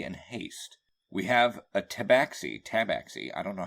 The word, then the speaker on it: tabaxi: We have a tabaxi, I don't know how to pronounce that. Yeah, tabaxi.